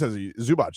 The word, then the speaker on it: Zubac: But no, that is Zubac.